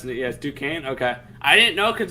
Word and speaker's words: Duquesne: richie good job duquesne uh that's how you pronounce it yes duquesne okay i didn't know because it's an f that sounds way better duquesne way easier than it looks fair enough uh